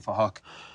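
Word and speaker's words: Phuc: We're spelled with a PH, so it sounds like Fahak.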